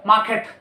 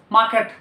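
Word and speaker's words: market: मार्केट, मार्केट should be pronounce आएगा मार्केट, आर का उच्चारण पीछे हट जाता है। मार्केट should be pronounce मार्केट।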